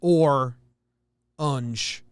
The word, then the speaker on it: orange: hey kevin eat bugs two syllables but every other part of the country says or unj but if you're from new jersey you say orange and ar and i can't you